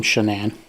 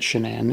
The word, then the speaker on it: Shanann: But she definitely pronounced her own name Shanann, and like her friends all pronounced it Shanann in some of the video.